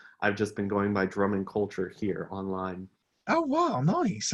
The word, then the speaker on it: Drummond Culture: saying it wrong yeah so my name is drummond culture uh culture is kind of an additional part